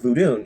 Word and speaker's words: vodun: Sania and Voodoo um specifically vood not voodoo um but vodun and santaria um and